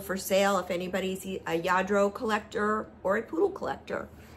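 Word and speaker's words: Lladró: This is a Yadro. I looked it up to figure out how to pronounce it for sure. It's spelled, I think, L-L-A-D-R-O, but it's pronounced Yadro. It's a Spanish company, and they make lots of like little figurines.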